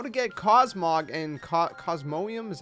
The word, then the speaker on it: Cosmoem: to be covering how to get cosmog and cosmonium is how you pronounce it anyways uh in pokemon sword and